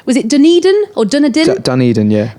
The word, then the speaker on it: Dunedin: Zealand you much a place called was it Dunedin or dinner did Dunedin yeah Dunedin they weren't mental you had name Ed's put